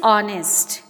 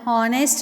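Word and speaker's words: honest: नेक्स्ट word is ऑनेस्ट. इसमें एच हम आगे लगाते हैं, एच साइलेंट होता है, हम हॉनेस्ट नहीं बोलते हैं, हॉ नहीं बोलते हैं, ऑनेस्ट, तो एच साइलेंट हुआ.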